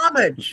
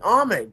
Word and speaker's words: homage: Right, you honor somebody, the H is silent, and homage.